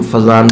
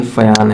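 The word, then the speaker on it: Fajans: क्या हमने फायांस रूल सुना था, जिसे हम फजान रूल्स के नाम से पढ़ते हैं? तो इसका प्रोनाउंसिएशन फयान है, फयान, फयान सही मायने में FAYAN जैसा लिखना फजान होता।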